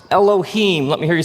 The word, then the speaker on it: Elohim: it would look something like this and it's pronounced Elohim let me hear you say Elohim eloh in the beginning Elohim created the heavens and the earth now the